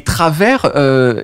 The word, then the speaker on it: Travers: Travers. Travers. Ça fait Travis quasiment quand c'est mal prononcé. Ouais. Mais ouais, en gros, c'est ça. Je prononce le S.